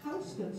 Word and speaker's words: Houston: of the village is Houston Street. And Houston Street right there, and we do pronounce it correctly because it's not named for Sam Houston. It's named for a guy from Georgia named William Houston.